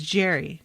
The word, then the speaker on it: Derry: is it jerry jerry it looks like it should be gary because i don't see a g and think that that's a soft g i'm picturing if it said jerry that that's a j but it's jerry not gary right i think i'm